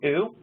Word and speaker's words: ou: For example, recently I heard one that was called oo. It's spelled O-U.